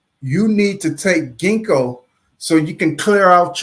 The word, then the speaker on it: Ginkgo: me see I'm gonna put there it is Ginkgo that's how you say it Ginkgo Ginkgo all